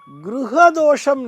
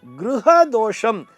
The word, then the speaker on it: கிருக தோஷம்: அப்படிங்கற மாதிரி சொல்லி இருக்கா நன்றாக கவனிக்க வேண்டும் அந்த வார்த்தையை அது கிருக தோஷம் கிரக தோஷம் அல்ல நம்ம எல்லாரும் அதாவது கிருகத்திற்கும் கிரகத்திற்கும் இருக்கக்கூடிய வித்தியாசத்தினை புரிந்து கொள்ள வேண்டும் கிருகம் என்று சொல்ல வேண்டும் கிருகம்னு சொன்னா அது வீடு என்று பொருள் இக்கு போட்டுட்டு ருவன்னா போடுறோம்